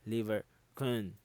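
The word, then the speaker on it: Lieberkühn: arrow so that is now your crypt of liber khan that's how you're supposed to pronounce it liver con okay i just checked google so liber okay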